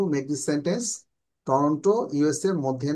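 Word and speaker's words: Toronto: diamond R টরেন্টো ইন দা ইউএস মানে টরেন্টো ইউএসএ ইউএস এর মধ্যে টরেন্টো কোথায় টরেন্ট টরন্ট উচ্চারণটা টরন্ট হবেন্ট এভাবে টরন্ট টরন্ট কোথায় আপনারা জানেন অনেকেই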